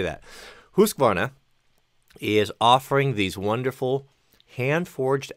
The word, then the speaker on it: Husqvarna: And what I chose, because I think it's such a wonderful value, you get so much for the money, is the Husqvarna. I always pronounce that wrong.